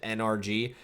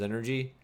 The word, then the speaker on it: NRG: so long and like we always pronounce it NRG I have really hard time switching over to their like new preferred way of saying it which is energy like that's what it's supposed to be but like none of